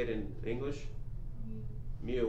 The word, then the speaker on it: mu: say it in english mu with the m as in mary mu it's like a u